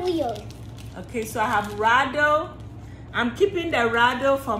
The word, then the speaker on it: Rado: Is it radio or rado? It's rado.